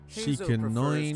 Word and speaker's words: Shikanoin: However, formal or not, Doshin Shikanoin is indisputably the commission's Doshin top Shikanoin, that's how you say his name.